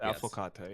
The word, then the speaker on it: Affocatto: It's affocatto, right? Is that how you would pronounce Yes, it? affocatto, yes.